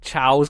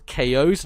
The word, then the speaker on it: Chao: lot the hard see I pronounce it with a hard C and we both did